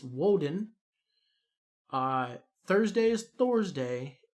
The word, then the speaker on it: Woden: was tears day wednesday was odin's day but pronounced in germaic it's woden uh thursday is thor's day and friday is